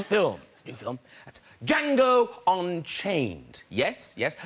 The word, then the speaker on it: Django: That's Django Unchained. Yes, yes. The D is silent.